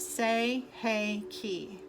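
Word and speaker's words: Sei He Ki: It is pronounced Sei-Hei-Ki.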